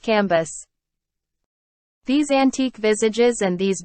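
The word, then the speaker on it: Cambis: There were in Madame de T.'s salon some very noble ladies named Mathan, Noé, Levies, which was pronounced Levy, Cambys, pronounced Cambus.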